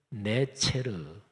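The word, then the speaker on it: נצר: 자, 가지라는 단어를 히브리어로 발음하면 네체르 이렇게 발음합니다.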